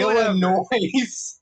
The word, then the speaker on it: Illinois: Why did you pronounce that like the Sufjan Stevens album? What do you mean? You Well, said whatever. Illinois.